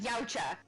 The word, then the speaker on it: Yautja: He said, Yautja, say it like Yautja.